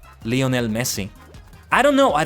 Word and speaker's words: Lionel: How do you think Lionel Messi would do at this? I think it's Lionel and not Lionol, right? Especially since he's Argentinian. It would be as a a Spanish pronunciation of that. Leonel Messi.